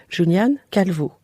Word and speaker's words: Julián Calvo: Vous êtes architecte et à la tête de l'atelier Tabula avec un associé, Julián Calvo. Oui, Comment vous le prononcez à l'espagnol?